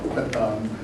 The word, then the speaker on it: Pathan: Again, Pathan, Pashtun is the Hindu, Afghan pronunciation.